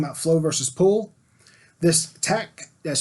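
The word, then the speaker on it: Takt: This TACT, that's spelled T-A-K-T, this TACT time, you have to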